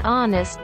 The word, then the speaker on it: honest: Only a few English words begin with an unvoiced H. An heir to the throne. An honest man.